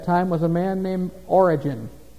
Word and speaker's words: Origen: Now, the head of the Gnostics at Alexandria at that time was a man named Origen. Not Origen as the beginning of something. It's spelled differently. O-R-I-G-E-N.